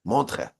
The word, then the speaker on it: Montreux: It's spelled with like E's and U's and X's, but the X is silent. Montreux, I think is how you pronounce it.